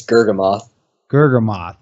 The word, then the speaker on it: Gurgamoth: horribly it's it's really hard for people to pronounce it's gergoth gam moth okay and can you tell me where does